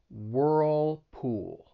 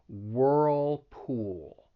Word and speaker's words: Whirlpool: let's practice this and you should feel your tongue getting pulled up two times for that dark l whirlpool whirlpool whirlpool and then